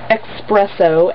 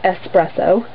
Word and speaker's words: Expresso: read and last is Express oh and it actually is expresso it's not espresso I don't get when people say it like that but yeah so that